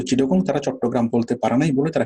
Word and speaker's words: চট্টগ্রাম: চট্টগ্রাম আমরা যেভাবে বলতে পারি, ইংলিশ মানে ওভাবে পারে না, তারা বলে চিটাগং।